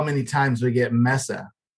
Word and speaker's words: Mesa: at Without Walls in Mesa Arizona Jeff Watkins it's a Mesa Arizona is it not Mesa is it Misa is it Mesa or Misa it's Mesa you know what you